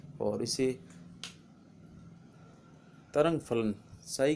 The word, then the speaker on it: psi: इसका अंग्रेजी में अगर नामकरण किया जाए तो PSI और उच्चारण किया जाता है साई, P साइलेंट रहता है।